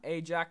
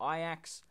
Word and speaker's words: Ajax: point followed by Mulan a ja or Ajax however you want to pronounce it ended up winning